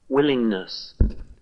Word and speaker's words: willingness: hear a g linger willingness willingness willingness so no strong G sound willingness same thing with